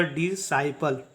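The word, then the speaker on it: disciple: प्रकार से नेक्स्ट देखिए यहां पर जो सी है वो एस के बाद आया है इसलिए सी क्या होगा साइलेंट होगा एस के बाद होगा या क्यू के पहले होगा तो सी का कोई उच्चारण नहीं करते हैं सी साइलेंट होता है ठीक है तो डी आई एस सी आई पी एल ई का जो उच्चारण करेंगे वो होगा डि साइप ठीक है इसका उच्चारण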